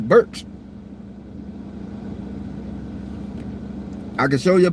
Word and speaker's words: Burke: It sounds like Burks, but you spell it with a T, Burks.